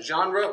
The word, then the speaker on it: genre: e g-e-n okay a genre with it like like the apostle john you know when you say all right because it comes from the french language yeah it comes from